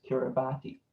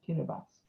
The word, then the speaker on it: Kiribati: Everyone would think it was Kiribati, while the T and the I make the S sound. So it's Kiribati.